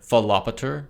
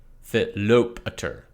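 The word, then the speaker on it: Philopator: To save myself some audio pain in the future, I often hear Philopater pronounced with the emphasis on the second syllable, Philopater. But the accent is on the alpha, Philopater, because that O is an omega, a long vowel, so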